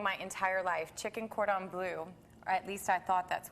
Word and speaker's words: cordon bleu: exquisite and of course you got French language so you have to say it correctly so cord or blue cordon bleu mm-hmm dad get there